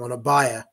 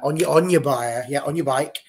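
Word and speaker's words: Ona Batlle: And again, it was a brilliant ball from, and I can't believe we've all been saying it wrong for so long, on a buyer. On your bike, is what he should have been.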